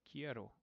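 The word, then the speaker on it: quiero: k eroo k k and the qu makes a k sound in Spanish just as a reminder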